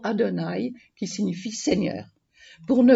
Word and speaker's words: Adonaï: sont l'équivalent de yahvé on ne prononce pas le mot de yahvé on prononce le mot adonaï qui signifie seigneur pour